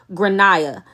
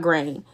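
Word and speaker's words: Gráinne: gra my partner uh the kid name is grania not grain my partner who has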